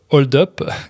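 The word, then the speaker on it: Hold-Up: dernière un documentaire intitulé hold up ou hold up comme on le prononce à la française en gros c'est un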